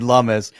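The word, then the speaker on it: Lummis: Lumus rhymes with hummus.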